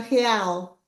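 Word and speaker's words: real: the moment for resilience the currency is uh Halal H is um yeah yeah I'm gonna put the chat for Mark to see so r e a l Brazilian cury yeah and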